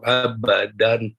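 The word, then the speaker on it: أَبَدًا: Qalqalah jelas. Ada. Abadan. Ada. Ya, dibaca jelas.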